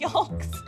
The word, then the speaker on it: yolk: me there are egg yolks I know I pronounced the L and I didn't didn't know it was bad until I came to